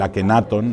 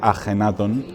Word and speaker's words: Akenatón: y yo creo que de ahí viene el Tutankamón o el akenatón cuando deberíamos decir ajenatón y otros y otros nombres